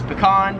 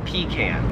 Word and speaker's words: pecan: This nut right here, me and most Americans would pronounce this as pecan. However, in Australia, most people pronounce this as pecan.